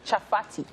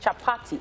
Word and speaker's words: chapati: did you call the patty wrap bread chocolate chaffati right chaffety wrap chapati okay i wanted to get the pronunciation right the chapati is what we're going